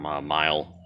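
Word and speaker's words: Meyle: I bought them aftermarket, or I bought them someplace else from Mile, or Meal, however you pronounce it, M-E-Y-L-E. So we'll put that on, which will be easy.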